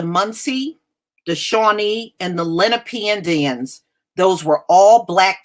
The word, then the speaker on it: Lenape: You know, I know a few of them, and they told me the word is Lenape. So if it's pronounced any other way, then they must not be aware of it either.